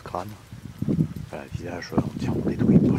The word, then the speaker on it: Craonne: Là, nous sommes arrivés sur le site de l'ancien village de Crâne, Craonne, qu'on prononce Crâne.